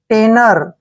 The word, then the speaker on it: tenor: टी को हम क्या पढ़ रहे हैं? टे। और एन का उच्चारण न करेंगे और ओ आर को रे पढ़ेंगे। टेनर।